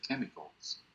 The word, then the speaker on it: chemicals: La CH en inglés, en muchas palabras, produce el sonido como una K. No es en todas, porque hay palabras en las que sí produce el sonido de la Ch. Por ejemplo, cuando uno dice cheers, sonido como una Ch, cheers. Pero acá dice chemicals.